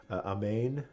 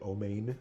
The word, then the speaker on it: amen: amen I've always heard a main or our main sometimes you'll hear o mein that's an Ashkenazi pronunciation of the of the